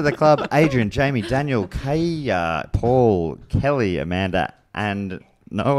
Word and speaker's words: Kaja: And I said, Kaya. Oh my God, yes. Kaya. I had no idea how you're going to pronounce that one, so I really had to wait till the pronunciation.